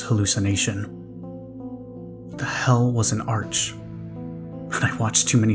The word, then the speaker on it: Arch: in the description apparently an arc yes pronounced arc but spelt like arch is a disc that contains